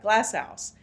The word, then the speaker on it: GlassOuse: Glass house. Thank you. I always mess that up. Glass house.